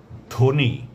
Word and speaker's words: ধ্বনি: যদি শব্দের বা পদের প্রথম ব্যঞ্জন বর্ণের সঙ্গে বফলা যুক্ত থাকে তাহলে পরে সে বফলার কোনো উচ্চারণ হবে না, তবে বফলা যুক্ত বর্ণটির উচ্চারণে সামান্য শ্বাসাঘাত পড়বে।